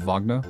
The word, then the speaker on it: Wagner: Wagner needs a philosopher's stone to finish whatever he's working on also I know it's pronounced vogner but I just think